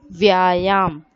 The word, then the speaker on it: व्यायाम: Vyayam. Here children, v is halfly joined with ya. So we'll read it as if. It is half letter no.